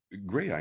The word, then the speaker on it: Graeae: Well, grey eye is how we pronounce it, as in grey eyes.